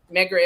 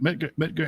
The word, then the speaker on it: Medgar: Dusty, you never heard of Medgar Evers? Oh, you know what? Look him up. How do you spell that? Medgar. Oh, like Edgar? Medgar?